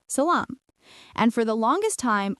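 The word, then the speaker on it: سلام: In the Semitic sisters, Syriac and Hebrew, it came to be pronounced with a sh sound, while in Arabic it remained a sa.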